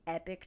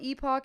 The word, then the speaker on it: Epoch: Epoch I call it Epoch in my head but I think they actually like when you watch an ad from them they pronounce it epic but it's spelled e